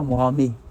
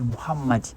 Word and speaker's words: Mohammad: Donc vous voyez donc Mohammad ça c'est appelé Mohammad à cause et don on doit bien prononcer pas Mohamed, on doit prononcer Mohammad.